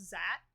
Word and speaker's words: Xat: I think it was called pronounced Zat, which is XATS, and they were like